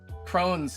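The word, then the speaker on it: Crohn: Um but yeah, Cronhn is pronounced like crony.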